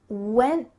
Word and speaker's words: went: No, this is what's called a stopped T, and it's extremely common in American English when there's a T at the end of a word and there's not vowels around it.